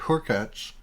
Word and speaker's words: Hurkacz: I saw today that Hubert Hurkacz, which thank you to the listener who corrected us on the pronunciation. I've been saying Urkacz for a a long time. Oh. And I went and looked up his pronunciation on the ATP website.